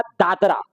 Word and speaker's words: दादरा: कौन सा जगह मिलेगा दादरा या दादर कहते हैं तो दादर दादरा और दादर उच्चारण अलग अलग हो सकते हैं इसके लिए कोई दिक्कत नहीं है दादर नगर हवेली भी बोल सकते हैं या दादरा नगर हवेली